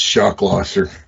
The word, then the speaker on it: Schlosser: pivotal defense and then your name is shock losser definitely phonetically spelled on yeah common spelling oh man